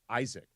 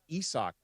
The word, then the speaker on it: Isaac: season with the Lakers, everybody thought his name was Isaac and that you pronounced it Isaac. And it turns out it's Isak. Nobody on the Lakers knew